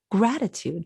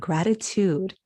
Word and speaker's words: gratitude: with the language because we usually say gratitude that's the normal stress of the word but he is speaking sort of poetically and he changes the stress of the word and he says reverence and gratitude how how unusual for